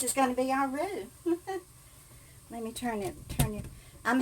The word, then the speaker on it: roux: And this is going to be our roux.